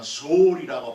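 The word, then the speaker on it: שאול: 죽으면은 그들이 있었던 것은 소울 사상, 우리가 성경에는 음부라고 번역이 되는데 히브리 말하면 소울이라고 발음을 하는 그 뭔가의 어떤 것이 있을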